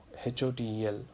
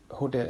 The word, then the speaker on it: hotel: first, like for example HOTEL, hotel, so TEL is where it is stressed, and in this, if the first letter of this syllable is again pa, ta, ka, it should be aspirated. So hotel, HOTEL is a example,